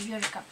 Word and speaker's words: Eureka: А, Eureka. Читается Eureka. Eureka.